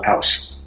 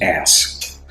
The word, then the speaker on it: Aass: I'm going to be comparing Pabst Blue Ribbon and a Norwegian Pilsner called Aass. That is AASS. It's not pronounced ass.